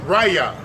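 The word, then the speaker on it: רֵעַ: The word neighbor means it's a strong 7453, and it's pronounced raya, and it means brother, companion, fellow, friend, husband, lover, neighbor, another.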